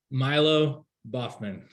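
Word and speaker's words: Milo Baughman: How do you pronounce that designer's name? Milo Boffman.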